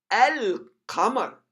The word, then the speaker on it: القمر: So القمر, القمر, اللام تنطق هنا القمر.